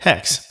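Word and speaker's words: ἕξ: hear how it sounds, which they pronounce heex, or as we would say, hex.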